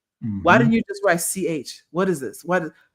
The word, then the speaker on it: Choi: was Jen Ci that we would say Choi because that's what it looks like to us because we're ignorant Americans, but it is really ch because the way it is spelled in Korean should be ch h ae if we were going to Americanize it or romanize it.